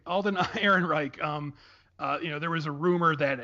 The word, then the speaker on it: Ehrenreich: There's also some stuff about I can never pronounce his name. Alden Ehrenreich, I think. Sure, that sounds right. Alden Ehrenreich.